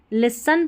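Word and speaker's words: listen: ये रहता है ना लास्ट में एस टी ई एन उसमें टी साइलेंट रहता है। तो यहां पर लिसन पढ़ेंगे।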